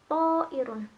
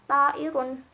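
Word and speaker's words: طائر: yang aslinya dibaca a, kemudian karena ada pengaruh dari huruf to, bacanya to'irun, gak dibaca ta'irun, karena itu konsonan yang mempengaruhi vokal, jadinya to'irun.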